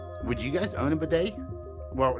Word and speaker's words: bidet: I have no problem with bidet rhyming with gay either.